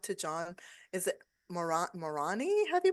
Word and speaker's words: Marani: we're gonna talk to John is it Mor morani have you pronounced correct okay yes great and Andrea G